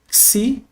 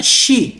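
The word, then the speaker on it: ξι: Esse não é XI, é XI. Esse X carrega dois fonemas. O CS ou KS, tá bom?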